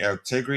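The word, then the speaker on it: Allegri: Altegri is how you pronounce it.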